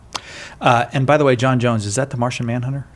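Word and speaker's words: J'onn J'onzz: right ja owns with two z's but it's pronounced jon jones right because he's martian so you need to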